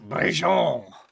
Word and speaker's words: Brigitte: The I actually think it would be pronounced Brigitte.